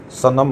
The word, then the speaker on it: सनम: उसी तरह से सनम को हम सनम पढ़ते हैं, ना कि सन्म, जो कि मैं पहले प्रोनाउंसिएशन आपको उच्चारण करके पहले बता चुका हूँ।